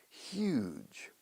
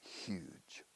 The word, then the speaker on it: huge: We say, pero la palabra más corriente para enorme es huge. Se pronuncia como el actor Hugh Grant.